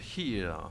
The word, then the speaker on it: HERE: Alors on va parler de Here, puisque c'est comme ça qu'on prononce.